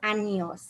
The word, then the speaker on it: años: The N has a unique sound, and it's important that you pronounce it like the NY in canyon.